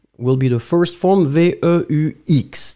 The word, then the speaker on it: veux: be the first form, V-E-U-X, don't pronounce the final X, tu veux, V-E-U-X, same